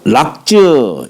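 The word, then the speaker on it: 樂: 자, 락즈 이게 악기라 할 때는 풍류 악이라고 읽는데 즐거워한다라고 할 때는 락이라고 읽어요.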